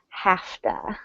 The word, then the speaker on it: have to: that pronunciation tip afta we pronounce that word like hafta alright so let's go